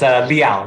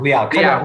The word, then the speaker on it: Liao: Yeah, it's Liao. Liao. Rhymes with chow.